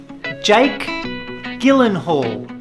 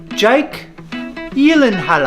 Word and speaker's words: Jake Gyllenhaal: one so this one most people say as Jake Gyllenhaal but there's a twist it's actually Jake Gyllenhaal ah Jake Gyllenhaal ah and also let me